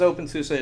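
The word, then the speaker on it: openSUSE: Uh so this is open sus or susa. I need to get my pronunci my pronunciation correct. So this is open susa.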